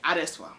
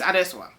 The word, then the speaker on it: Adesua: A lot of the times, for example, my name is Adesua. That's how you pronounce it. There's no American version of it. There's no other version of my name. My name is Adesua.